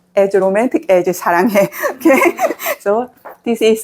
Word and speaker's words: 사랑해: But a lot of foreigners, they say 사랑해 like this. Because I told you, 스 before vowel is pronounced more strongly. But Korean 스 sound is a softer sound. 스, like 스 in smile. So before a consonant. So this is 스, so 사랑해. Not 사랑해.